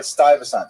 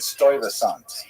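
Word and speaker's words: Stuyvesant: I happened to pronounce the name of the Dutch governor of Manhattan. Do you remember who that was? Styent. Right. Stasant. So apparently in my ignorance I said Stoant which is I I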